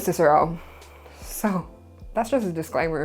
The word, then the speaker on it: Cicero: My personal favorite, statesman, formerly I called him Cicero because of my Welsh accent that puts emphasis on vowels. His name is Cicero.